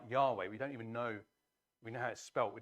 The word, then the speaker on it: Yahweh: heard this, the Hebrew word is something like Yahweh. We don't even know, we know how it's spelt, we don't know quite how it's pronounced. Comes up in some English versions as Jehovah, but it's Yahweh.